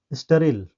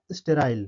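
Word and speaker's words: sterile: तो इसको हम लोग दो तरह से प्रोनाउंस करेंगे। तो पहला हम जो प्रोनाउंसिएशन इसका पहला होगा क्या होगा? इसका स्टेराइल यानी ब्रिटिश इंग्लिश में इसको क्या बोलेंगे? स्टेराइल बोलेंगे। यानी जब हम इसको ब्रिटिश इंग्लिश में प्रोनाउंस करेंगे तो इसको बोलेंगे स्टेराइल। लेकिन इसी वर्ड को जब अमेरिकन वर्ड में बोलेंगे अमेरिकन इंग्लिश में तो यह हो जाएगा स्टेरिल।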